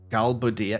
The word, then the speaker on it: Galbadia: Galbadia.